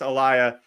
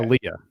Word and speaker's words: Aaliyah: one left I went with the five Princess Alia Alia I never knew how to say her